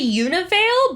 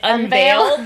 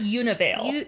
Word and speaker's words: Univale: They say Univale, but I keep pronouncing it Unveil because that's what it looks like, but it's Univale.